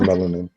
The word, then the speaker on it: melanin: melon in the millennium i'd be saying it wrong i think it's melanin melanin whatever i'll be saying